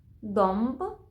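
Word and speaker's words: dąb: як а плюс призвук Якщо наша носувка стоїть всередині слова перед б і п то хвостик ми будемо читати як м домб демби зомб земби тромба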